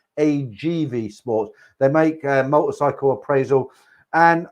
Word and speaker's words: AGV Sports: He's, you know, he runs his business AVG Sports or I always say it wrong. It's AGV Sports.